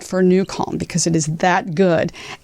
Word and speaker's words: NuCalm: And when that's the case, you want to try New Calm. So for those of you who are on the podcast world and don't know, and you're listening, it's spelled NUCALM.